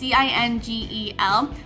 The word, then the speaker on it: Cingel: I think his last name is pronounced Cingel. It's Cingel. I'm currently taking that class and absolutely love it.